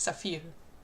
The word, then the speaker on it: Saphir: Well, I think it's pronounced like the French word, so it's Saphir.